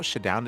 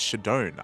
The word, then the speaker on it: ShaDoWn: Uh first I should also emphasize it's not Shadon, it's Shadon. I need uh like shadow with an N at the end.